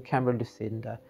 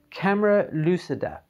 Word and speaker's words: camera lucida: reading um also um cameron lucinda or sorry not camera lucinda see i'm doing that again with the mispronunciation of things camera lucida and that's by uh